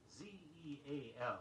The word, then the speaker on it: zeal: Although Z-E-A-L is pronounced zeal, the adjective form is zealous, Z-E-A-L-O-U-S.